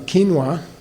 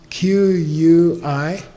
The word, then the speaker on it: quinoa: I don't know how to pronounce it. Lecithin? Lecithin. Lecithin. From sunflower, it's good. Sunflower lecithin. Okay, buy some quinoa. Quinao.